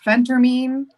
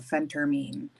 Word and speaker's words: phentermine: half this shit, but it's phentermine because it's phentamine is something different, but phentermine.